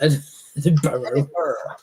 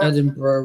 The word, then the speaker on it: Edinburgh: Edinburgh is Edinburgh. Oh, it's not pronounced that way. The borough of Edinburgh. Edinburgh, we say.